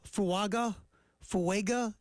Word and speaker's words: Fuaga: play tackle guard uh fuaga fua is how you would say his name that's what I'm thinking